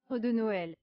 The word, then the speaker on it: arbre de Noël: In French, people pronounced it as Arbre de Noël. Arbre de Noël.